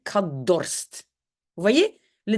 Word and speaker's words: dorst: Dans la langue officielle, tout va devenir D, on va dire kadorst.